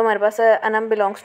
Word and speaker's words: अनम: Pronunciation देख लेते हैं तो अनम को प्रोनाउंस किया जाता है ए एन ए एम अनम, कुछ यूँ प्रोनाउंस किया जाता है।